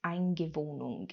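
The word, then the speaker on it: Eingewöhnung: But in Germany, there's this thing called, I think it's pronounced Eingewohnung, and I haven't had to use this word,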